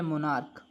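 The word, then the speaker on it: monarch: जैसे ये लिखा है मोनार्क। ये लिखा है मोनार्क। अब लास्ट में सी एच तो है लेकिन इसका हिंदी उच्चारण करने पर का क का साउंड दे रहा है ना ऐसी कंडीशन में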